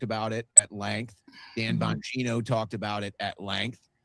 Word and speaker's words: Bongino: Bongiorno, I keep saying his name wrong. Bongino, whoever, he was just an underling somewhere along the way.